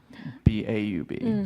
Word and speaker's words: Baub: There's people will say B-A-U-B instead of saying Bob.